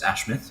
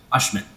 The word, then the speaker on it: Ashmi: pronounce our name so I introduced myself as ashmouth when my name is in fact ashmi and it's like all